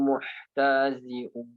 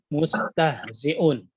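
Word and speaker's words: مستهزئون: Wa idza laqul ladzina amanu qalu amanna wa idza khalau ila syayatinihim qalu inna ma'akum innama nahnu muhtazi'un. Mustahzi'un.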